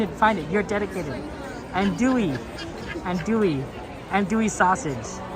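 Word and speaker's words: andouille: Okay, well, we will try to remember. And dewy sausage. The L is silent.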